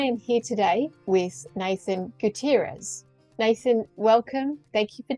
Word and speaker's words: Gutierrez: Heroes welcome I am here today with Nathan Gutierrez Nathan welcome thank you for joining me and have I pronounced your surname correctly thank you for having